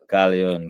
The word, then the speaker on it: Khallion: me you know embarrass myself how do you pronounce your name cion cion cion okay okay okay okay so that is like